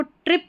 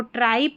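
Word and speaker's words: trip: यहाँ पर इसको ट्रिप पढ़ना है, इसको ट्राइप नहीं पढ़ना है।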